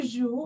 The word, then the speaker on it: joues: Je joue, tu joues, although tu has e at s at the end, you not pronounce it as joues, it joue.